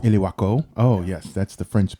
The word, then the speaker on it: Ilwaco: So let's talk about the North Head Lighthouse, located in Ilwaco, Washington.